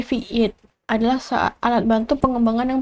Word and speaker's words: vite: Sini itu fit kata dalam bahasa Prancis untuk cepat diucapkan fiit seperti fiit adalah alat bantu pengembangan